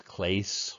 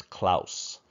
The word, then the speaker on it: Claes: of klaus oldenburg um i know when you look at his name you want to say his name is clase or clays or something like that but we say his name is klaus klaus oldenburg and klaus